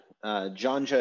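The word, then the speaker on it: ϫⲁⲛϫⲓⲁ: This letter, janja, is today pronounced as like the J in the English word judge.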